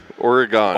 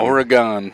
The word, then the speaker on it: Oregon: whole thing got eugene oregon origami oregon right that's how you say it that's how we